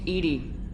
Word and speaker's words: EDI: airlock is a jar why are you named Edie Ed is the phonetic pronunciation of e di that is an acronym